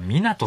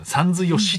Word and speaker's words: 湊: いや湊さんだよ、さんずよしと読むな。